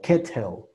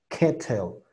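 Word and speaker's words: kettle: Y luego podemos pronunciar reo, kereo, kereo o ketel, ketel. Puedes usar cualquiera de las dos. Te digo, es dependiendo de cómo te acomodes tú, a decir ketel o ketel, ketel.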